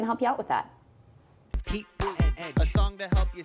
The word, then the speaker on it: Pete Buttigieg: Sound it out. It's not Pete Butto. Here's how it's pronounced. It goes Heat, Boot, and Edge.